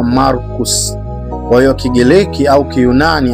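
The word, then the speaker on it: Marcus: Jina la Marko kwa Kigereki tunaita Markos na kwa kilatini inatamkwa Markus.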